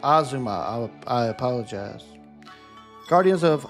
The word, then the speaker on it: Azuma: Rune Factory, Guardians of Ozma. Oh, it's present. is pres is pronounced Azuma.